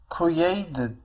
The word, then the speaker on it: created: لاحظوا كيفية نطق هذه الكلمة، قلت created وليس created، فهنا أيضا T سوف تنطق على الشكل flap T على الشكل D لأنها تأتي بين two vowels.